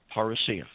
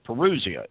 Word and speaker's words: parousia: same identical context and that other word is parasia or parousia if you wish to pronounce it that way paul uses the word parousia twice in first thessalonians chapter 4.